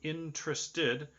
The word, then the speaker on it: interested: I'm more interested okay so interested has three syllables not one not two maybe not three maybe those four syllables but I pronounce it like it has three okay either way more interested